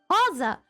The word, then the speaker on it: Rosa: a I got a Rosa. Ro, how do you say Roa? Hoa. I say hoa because it's a common name in Portuguese.